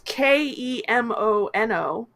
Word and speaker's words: Kemono: How do you spell that? Kimono. It is Kemono, Excellent.